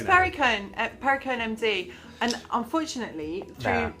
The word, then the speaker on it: Perricone: I can never pronounce it. Is it Perricone? It's Perricone, Perricone MD.